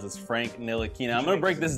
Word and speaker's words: Ntilikina: Nina that's a name we can all Now Pronounce as Frank nilina I'm going to break this down into into